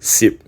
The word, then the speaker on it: 什: However, in Hokkien, this character (什) should actually be pronounced si̍p in this context.